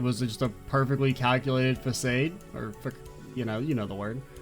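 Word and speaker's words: façade: And of course, me being a kid, I called it facade because that's the way it's fucking spelled. And I was like, I don't know, 6, 7? And so sometimes, even though I know that's not how you say it, it still will slip in. And I want to call it facade instead of facade. Or like a mix of the two.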